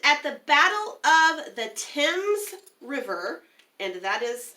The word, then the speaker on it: Thames: into Canada and at the Battle of the Thames River and that is how that's pronounced believe it or not it looks like things at the Battle of the Thames River Harrison was able to defeat a combined